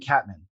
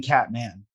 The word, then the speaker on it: Katman: This guy's been saying Catman. I've been saying Catman. Holy crap. Both are okay.